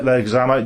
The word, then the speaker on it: Leguizamo: But the reason he wasn't cast, and they went for, I always pronounce his surname wrong. Leguizamo? Leguizamo, yeah, was because of his improvised comedy, and they wanted him to bring a lot of that to the role.